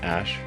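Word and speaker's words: Æ: X um and then the AE is like pronounced Ash um yeah and then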